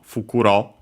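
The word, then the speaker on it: 袋: So yeah, from Fukuro. Uh I think we might uh not sure if I've seen it in this very series or another one uh on its own accent on the last uh mo.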